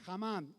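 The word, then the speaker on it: Hammat: En hebreo se pronuncia Hamam, H-A-M-M-A-T, para los que toman nota. Hamam. No sé si lo pronuncio bien, pero le pasa.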